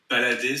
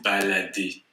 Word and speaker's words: balader: Et balader, c'est to go for a walk, passer à... Ah, ok. Et on ne prononce pas en français le R à la fin des verbes. C'est balader.